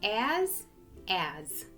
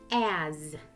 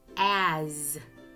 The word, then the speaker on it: as: As. La S hace el sonido que hace la Z en inglés. Z. As. No se pronuncia la S como S. No es as. Es as. As.